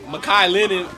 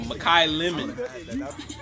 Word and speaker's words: Makai Lemon: run that back hey i said malik makai linen i mean why keep saying his name wrong makai lemon makai lemons hey i